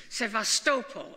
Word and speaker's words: Sevastopol: name it spent variable city say vastus police Sevastopol as they pronounce it now I knew many of you